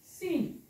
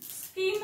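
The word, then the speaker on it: scene: मी वाचला का नाही स्कीन म्हणाले का नाही याला आपण असं वाचलं का स्कीन असं वाचलं नाही स ला क जोडलं का मी नाही जोडलं कारण स्किन हा उच्चार होत नाही हा वाचायचा सीन तसाच हा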